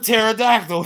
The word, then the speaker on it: pterodactyl: just spelled it put pterodactyl other than the P that is pretty straightforward yeah look say it